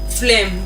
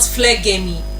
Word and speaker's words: phlegm: Phlegm. Don't forget, it is not phlegmy, but phlegm, and it is spelled PHLEGM.